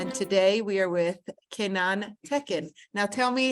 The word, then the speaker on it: Kenan Tekin: it for me though, so I could hear the real It's pronunciation? exactly, yeah. Kenan Tekin.